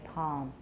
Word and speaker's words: palm: of his hand poem he has absolutely no l and many americans have noel at all but i say palm what gives you the